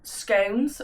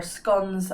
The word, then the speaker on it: scones: So today we are going to be making homemade scones, or scones as some people pronounce.